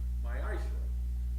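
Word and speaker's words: מעשר: It means tenth in Hebrew, and it's pronounced ma'ashra.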